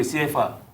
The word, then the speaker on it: CFA: Yes, not the CFA, CFA. You want to pronounce it the French way, CFA.